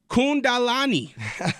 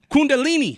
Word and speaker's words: Kundalini: right now all right kundalani no Kundalini there you go Kundalini Awakening you got it now what is a Kundalini Awakening yeah absolutely so a Kundalini Awakening uh that's something